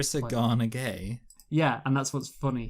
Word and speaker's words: Gueye: Adrisagana Gay. Yeah, and that's what's funny. His last name is Gueye, but it's pronounced Gay, I'm pretty sure.